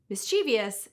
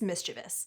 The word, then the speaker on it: mischievous: If you think it's mischievous, take another gander at the spelling. There's no I after the V. It's mischievous. But mischievous is such a widespread